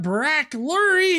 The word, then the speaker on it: Barak Lurie: to the video uh we got brac lurie here uh i'm fairly certain that's how you pronounce he's gonna tell us